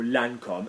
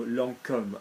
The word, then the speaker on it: Lancôme: There is an accent on the O, like in the word that people say, oh, Lancôme, no, Lancôme.